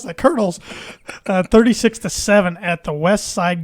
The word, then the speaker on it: Colonels: How do you pronounce that? Colonels.